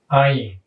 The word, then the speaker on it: Ayin: The book says that the pronunciation is silent. Historically, it had a sound that was a guttural sound, and it's a little bit like the glottal stop that we talked about with the aleph, but the difference is